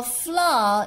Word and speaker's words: flour: before kneading the flour now fla it is a british pronunciation if you want to read flower it will be the american pronunciation so we follow fla all right we read it as fla okay sprinkle some this